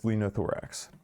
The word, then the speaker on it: linothorax: It is Lenothorax.